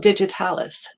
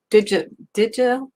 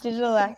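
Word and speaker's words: Digitalax: And Emma Jane, tell us about Digitalis. Digitalex. It's a bit hard to pronounce, Digitalex, yeah.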